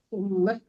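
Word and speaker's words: أُمَّة: بعدهم وحمت كل أمة Ummah, jangan ummat.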